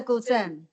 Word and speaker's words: guzheng: And then when I came here, I myself I learned another instrument, the guzheng.